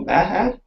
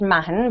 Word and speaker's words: Mahon: Okay, so my last name is actually pronounced Mahon, but everyone in Canada says Mahone, so I've got pretty used to it, so it's okay.